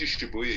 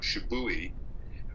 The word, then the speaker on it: Shibuya: And Chris could not pronounce any of the Hispanic wrestlers' names like Mil Mascaras, or he couldn't even pronounce Kenji Shibuya. He called him Shibui.